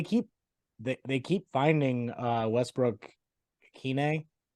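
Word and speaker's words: Westbrook-Ikhine: they keep finding uh Westbrook Kine is how you say it yeah um he seems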